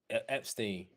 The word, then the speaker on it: Epstein: Epstein.